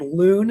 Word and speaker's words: Lune: The main character is, I guess, named Lune, Lune. I guess the E is silent.